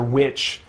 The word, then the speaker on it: VVitch: Nathan Norman says, I think my favorite horror movie is 2019's he says Vitch. And it's spelled kind of funny. The way they present it in the marketing, it looks like that, VVITCH, or witch.